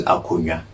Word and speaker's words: akonnwa: Okay, a chair is akonnwa.